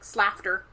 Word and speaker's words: Slaughter: And it's Slaughter. It's spelled like slafter. It's Slafter.